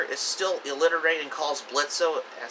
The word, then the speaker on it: Blitzo: still illiterate and calls blitzo as spelled m because the O is silent that's why much to